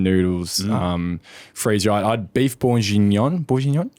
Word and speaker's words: bourguignon: I had beef bourguignon. Bourguignon? How do you say that? Bourguignon? Moff, please help us on that. It's a red wine beef. Bourguignon.